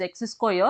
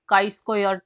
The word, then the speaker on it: chi-square: The chi-square test, which has been pronounced x square, it should not be pronounced as x square, it should be pronounced as chi-square test, is one of the